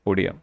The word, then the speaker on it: Odia: Consequently, the Oriya language in the 8th schedule will be pronounced as Odia, because it is coming from Odisha and there is no Oriya, etc.